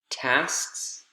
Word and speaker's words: tasks: tasks the task is tasks it's really hard the s t s or the sks is tricky tasks tasks what you're doing